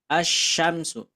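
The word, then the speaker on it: الشمس: soalnya nanti bakalan gini asyamsu Kenapa dibacanya As enggak Al gitu ya berarti kalau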